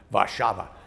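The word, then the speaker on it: Warszawa: love that's warsaw and i love the way they pronounce their city's name vashava a beautiful old town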